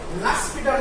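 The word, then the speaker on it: L'Hôpital: এই নিয়মটির সাহায্যে লাস্পিটাল রুল, এল হসপিটাল লেখা বা উচ্চারণ লাস্পিটাল, এই লাস্পিটাল রুলের সাহায্যে আমরা এই ধরনের সমস্যাকে দূর করে থাকি।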